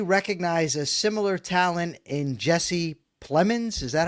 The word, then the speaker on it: Jesse Plemons: Does he recognize a similar talent in Jesse Plemons? Is that how I pronounce that?